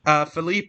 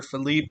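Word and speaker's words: Philippe: systems that have fall Felipe or phip depending on how you pronounce it um is has been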